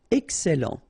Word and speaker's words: excellent: Excellent, remember double L and E before, it will open the E, so E, excellent, excellent.